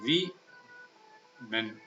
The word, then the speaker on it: women: It should be pronounced as we men.